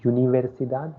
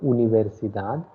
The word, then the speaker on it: universidad: Second one, it is not universidad. Do not pronounce it like that. It is u. So u is pronounced as u. Oh, okay. So universidad and libertad.